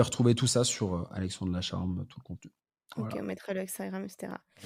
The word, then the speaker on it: Lacharme: Alors le nom de mon podcast, c'est, mon prénom et mon nom, donc c'est Alexandre Lacharme, ça s'écrit Lacharme, comme ça se Ok.